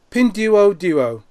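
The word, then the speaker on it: Pinduoduo: it you guys can find out how it's pronounced properly is pindu pin duo duo yeah p-i-n-d-u-o-d-u-o and it is the largest interactive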